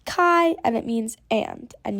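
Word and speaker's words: καί: and new makes M sounds try this it's pronounced Kai and it means and and you'll see it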